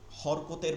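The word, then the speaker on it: حركات: ঠিক এইটা হচ্ছে আল হারাকাত। হারাকাত আরবি শব্দ। আমরা কিন্তু হরকত উচ্চারণ করি, কিন্তু আসলে হরকত উচ্চারণে হা র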